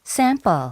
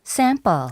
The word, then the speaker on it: sample: 이것도 다 알아두시면 좋긴 한데 P라고 하는 단어 있죠. 저 단어가 단어 중간에 들어가면 된소리 느낌으로 발음이 나거든요. 뭐 이게 경음화된다 뭐 이렇게 표현하는데 그건 중요한 게 아니고 그냥 된소리 느낌으로 강하게 sample, 샘플이 아니라 뻘 느낌으로 나겠죠.